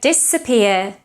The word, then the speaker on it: disappear: Disabled is with S as well, so you can't say disappointed, disappear or disabled. Yeah? Can you hear the difference? I'm sure you can. So disappear, disappointed, disabled.